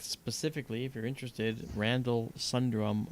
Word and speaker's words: Sundrum: In fact, specifically, if you're interested, Randall Sundrum 1, Randall, spelled like it sounds, and then Sundrum, S-U-N is in November, drum, like ba-da-ba-dum.